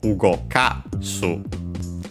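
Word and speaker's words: 動かす: While in the dictionary form, final form, in the present, of course, plain present, it would be on the second to last syllable, ugokasu, while here it's ugokashite.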